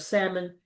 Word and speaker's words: salmon: Although it's spelled S A L M O N, the L is silent.